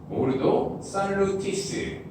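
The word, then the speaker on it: ordo salutis: 라틴어 오르도 살루티스. 이 발음은 정확합니다.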